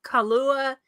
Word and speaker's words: Kailua: It's Kailua, and just like the alcohol.